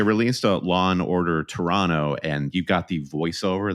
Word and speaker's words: Toronto: Yeah, but you have to pronounce it Toronto. That's what I'm learning. If you pronounce the extra T.